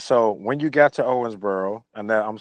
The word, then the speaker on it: Owensboro: um all right so when you got to Owensboro and that I'm saying it right right Owensboro yeah Owensboro Kentucky uh so so you went through what